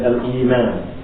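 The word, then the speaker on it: الإيمان: And I spelled it like this for a reason, so that we can learn how to pronounce it. For those of us who have not studied Arabic, we can try and get as close as we can to the way it sounds in Arabic by looking at it spelled like this in English.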